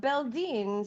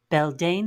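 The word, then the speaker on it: Beldeine: All right, K-Sai, pronounce this. What's this? Beldine Sedai of the Blue Aja.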